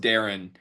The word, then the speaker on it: Darian: is higher first off can't believe it's pronounced Darren uh he spells it Daran just spell it Darren